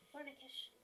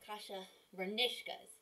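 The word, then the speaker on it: kasha varnishkes: Vernikish. Or maybe it's vernishkas? I think it's vernishkas. That's it. I'm an idiot. I always pronounce that wrong. Hold on. Hold on. Hi. I'm here again. I have Kasha Vernishkas.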